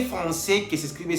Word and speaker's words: français: C avec cédille tiene la pronunciación S. Por ejemplo, français, para no decir francais. Entonces, C français tiene el sonido S, que siempre se va a pronunciar S. Por ejemplo, français, para no decir francais, decimos français.